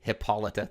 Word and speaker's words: Hippolyta: For those of you helping me with pronunciation, Hippolyta, thank you.